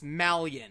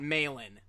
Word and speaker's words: Melian: saying her name wrong it's Malian and not Malin I'm sorry I'm not